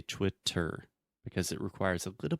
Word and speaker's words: Twitter: twit ter okay but when you say it fast the second T will be a little bit softer so Twitter perfect okay Theater Twitter